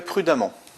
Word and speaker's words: prudemment: Cinquième exemple, il conduit toujours très prudemment. Prudemment, on prononce amant, donc on a une terminaison en deux M.